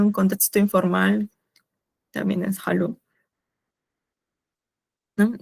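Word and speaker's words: hallo: Y bueno, acá la H, como ya comentaba, se pronuncia como una J, y lo demás, hello, o sea, como una doble L es como una L, solo especificando una L, ¿no?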